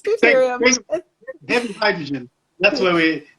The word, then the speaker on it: deuterium: And I'm like, it's deuterium.